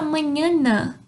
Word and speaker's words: mañana: Hasta mañana. Hasta mañana. Até amanhã. Hasta mañana. O som é de NH.